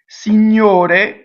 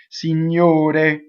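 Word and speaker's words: Signor: but it has new GN is like new or a write lasagna like lasagna lasagna if you're Italian see new day new day okay so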